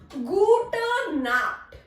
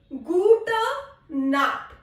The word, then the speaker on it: Gute Nacht: Now we have Gute Nacht. Gute Nacht. Here we do not have Guten. That N is not here. We have only Gute. Gute Nacht. Nacht. K. This has a sound of K.